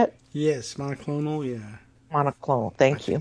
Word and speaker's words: monoclonal: And they're rationing out monoclonal antibodies. Is that how you say it? Yes, monoclonal, yeah.